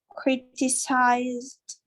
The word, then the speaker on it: criticized: is a z sound when there is a z sound you have to pronounce the by the end zeiss decided criticized okay